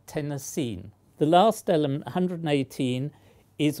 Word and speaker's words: Tennessine: I'm not sure whether it's intended to be pronounced Tennessine or Tennessine. I prefer Tennessine.